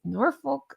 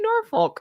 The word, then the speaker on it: Norfolk: I always catch hell in the way I say Norfolk. That's how we say Norfolk. I believe you guys actually pronounce it, unless you're messing with me, Norfolk. Is that right? Did I say that right?